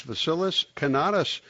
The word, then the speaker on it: Vasilis Kanatas: signs of the zodiac and here he is vasilis canatas uh vilus first of all am I pronouncing your name correctly sir yes you do